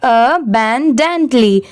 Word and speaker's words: abundantly: अबैंडेंटली। यहाँ पर अ की साउंड सेपरेट आ रही है, ए की अ आ रही है।